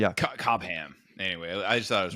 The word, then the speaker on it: Cobham: Cobam. Anyway, I just thought it was really funny. I had to break that one down, but yeah, of course. Cobam.